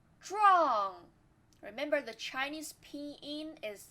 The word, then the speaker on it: 壮: This is not 专, this is 知 u ang. 壮壮.